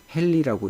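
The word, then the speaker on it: henry: 그래서 인덕턴스의 기본 단위는 헨리, H라고 이렇게 쓰고 헨리라고 읽는다. 자, 항상 이제 우리 초반부에도 제가 강조했던 얘기지만, 다양한 용어들이 나오고 그 용어들을 줄여서 우리가 표기하는 알파벳이 있어요.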